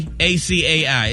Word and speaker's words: acai: How do you say ACAI? It's the little berry supplement thing. People say acai. No, it's acai.